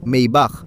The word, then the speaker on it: Maybach: Paano mo ba ito binibigkas? Maybach.